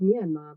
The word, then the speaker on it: Myanmar: English I don't know in burmes they say sort of like me andma but in English we